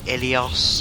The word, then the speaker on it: Ilios: A few favourite maps of mine include Hollywood, Ilios, I believe it's pronounced, Volskaya Industries, and Watchpoint Gibraltar.